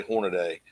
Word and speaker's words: Hornady: Everybody gets on me how I say Hornady.